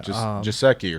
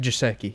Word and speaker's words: Gesicki: Jasecki or something like that. Mike Gesicki.